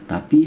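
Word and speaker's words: ت: Bentuknya berbeda tapi hampir sama ketika pengucapan. Yang ini ta, yang ini to ya. Ta, ini biasa ya. Terdengar seperti ringan saja ketika terdengar ta.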